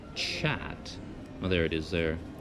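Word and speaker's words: kyat: spelled KY a T which I would pronounce cat but I read online that they pronounce it chat well there it is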